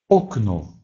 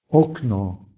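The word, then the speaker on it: okno: Независимо от того, стоит ли этот звук под ударением или не под ударением, он должен четко произноситься как «о». Например, окно, око, окно, окно, око, глаз.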